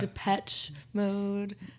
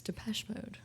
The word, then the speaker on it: Depeche Mode: name I didn't either I would I would call it Depeche Mode yeah depech mode but it's Depeche Mode yeah just a soft I wonder what it